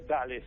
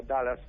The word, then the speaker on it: Dulles: El aeropuerto Reagan y el aeropuerto Dulles, ¿no es cierto? O Dallas, se escribe D-U-L-L-S.